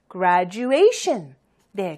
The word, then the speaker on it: Graduation: 아니고요 gradation이에요 자이기 때문에 세번째 음절에 액센트가 있네요 그죠 gradation 자 같이 한번 우리 그 액센트를 강 강조해서 한번 해 볼게요 gr gr 그 빨리 해볼까요 Graduation Graduation네 그럼 원래 속도로 하면